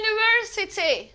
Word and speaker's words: university: Örneğin university. Bakın görünüşte aslında neyle başlamış bu? U ile ve sesli bir harf değil mi bu? Ama buna aldanmıyorum. Okunuşuna bakın. University yani Y ile çıkmış.